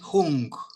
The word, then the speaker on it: Hum: Mani, Peme, Peme, Peme, Hung. Om Mani Peme Hum. Qué Sí, lindo. con Om G al Mani Peme final, Hum. porque esta pronunciación tibetana es con ese G al final.